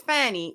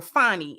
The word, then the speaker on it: Fani: the Fulton County DA which is Fanny or fny as she uh uh pronounces it and her Deputy Nathan